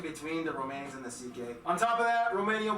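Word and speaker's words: Székely: all went down then we get to the ck people the second most populous minority yes that's how you pronounce it ck basically cousins of the hungarians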